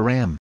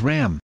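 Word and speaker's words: रं: or seed Mantra is Ram pronounced as rang our sound produces with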